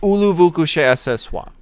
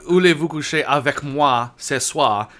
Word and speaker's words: Voulez-vous coucher avec moi ce soir: What about Ulu vous couchez à ce soir? Okay, No, well, that's it's, not- pronou- that's it's not- pronounced. It's about "Voulez-vous coucher avec moi ce soir."